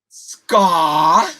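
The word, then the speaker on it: Skaar: Now, how do you pronounce it again? Scar.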